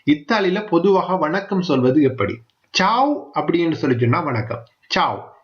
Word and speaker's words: ciao: Zhao அப்படின்னு சொல்லி சொன்னா வணக்கம். Zhao, CIAO, CIAO, Zhao. CIE என்றெல்லாம் நான் சொல்லல, CIAO. நீங்க சிம்பிளா இங்கிலீஷ்லயே அதை சொல்லிக் கொடுங்க. Zhao, Zhao, Zhao. CIA என்று வந்தா ச என்ற உச்சரிப்பு வரும்.